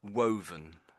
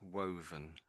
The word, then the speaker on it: woven: So, woven. So, the dub is quite strong, I guess. Woven.